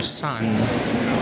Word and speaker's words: 三: the so how about the number three the Sun so what are the onomi and Ki for the Sun so let's let's disregard the irregular or the archaic irregular readings or basically for this character sun or three three the the onomi or uh